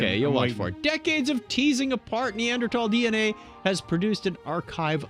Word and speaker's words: Neanderthal: some people will say neanderthal but since it's pronounced neanderthal in the neanderthal region of germany i'm going to say neanderthal from now on okay